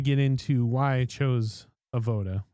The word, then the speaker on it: Avoda: unique fitting experience with Avoda. But first I'm going to get into why I chose Avoda, or Avoda if you're into the more traditional Hebrew pronunciation of the word.